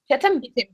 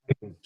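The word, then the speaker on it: chittim: So, well, okay, you said, how do you pronounce it? Chitim. I was calling it chitin. You were calling it what? Chitin. No. Oh, like, that is wrong.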